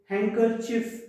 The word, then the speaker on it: handkerchief: Now silent letter D. So silent letter D has got certain words like sandwich, Wednesday, handkerchief. We don't say handkerchief. We should say handkerchief. We should say sandwich. We should say Wednesday.